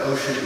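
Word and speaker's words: Ossian: of background it's called bu City uh but ocean is spelled o s s i a n uh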